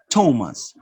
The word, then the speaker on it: Thomas: ta idi stopped washed ta is a spell th in a few names for example you have thailand james thomas and th thailand thames thomas generally this is spelling